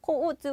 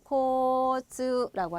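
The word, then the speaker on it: 交通: 들어가서 여러분 마실 때도 이것도 역시 코우즈 이러지 마시고 되게 없어 보이죠 여러분 그죠 장음이 5단과 자 이렇게 우단 단과 우단 앞 단어만 길게 해주시면 되거든요 그래서 코스라고 하시면 돼요 그래서 코스라는 거는 교통입니다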